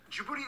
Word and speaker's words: Djibouti: It's not Djibouti. There's no way the locals would pronounce it in such an American way. Small. Djibouti is what you would